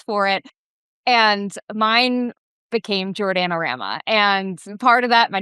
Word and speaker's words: Jordana: And mine became Jordanama. And part of that my name is long but I also think of like my name rhymes with banana and there used to